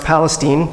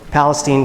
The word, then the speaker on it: Palestine: nowhere rural East Texas in a town called Palestine but actually it's pronounced Palestine take note Palestine Texas and you know it's really not such